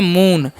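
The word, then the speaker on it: moon: ए एम का म double O का चन दीर्घ तो इस पढ़ते हैं उ ए से न तो हो गया मून मून मतलब क्या होता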